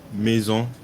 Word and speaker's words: Maison: But my first pick will have to be Dreamcatcher Maison. A little French pronunciation for you.